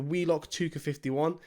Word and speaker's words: WELOCK ToucA51: So guys, that is the WELOCK ToucA51. That's how it's meant to be pronounced.